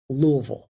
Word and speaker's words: Louisville: do you pronounce it say it like you've just swallowed the bourbon uh and it's Louisville Lille Louisville Louisville that's